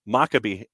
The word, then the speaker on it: Maccabi: Correction from the other day. It's Maccabi. Okay. Second syllable.